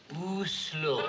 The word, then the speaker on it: Oslo: Is it Oslo or Oslo? Oslo.